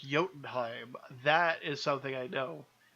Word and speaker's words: Jotunheim: chilled I am ok that doesn't work as a ride because it's pronounced Jotunheim that is something I